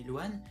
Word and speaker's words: Elouan: Mon prénom c'est Elouane, E-L-O-U-A-N, qui se prononce Elouan mais qui se dit Elouane, c'est d'origine breton.